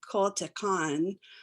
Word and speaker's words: Coahuiltecan: So that became really interesting, because literally when I started trying to learn how to pronounce Coahuiltecan and sometimes people will say Coahuiltecan, so there's a little bit of variance in it, but it really taught